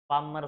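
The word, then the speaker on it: Palmar: कौन सा, पाल्मर sign, पाल्मर sign बोल, एल साइलेंट, पाल्मर साइन।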